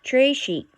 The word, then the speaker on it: très chic: You say it like this, très chic. It means very fancy.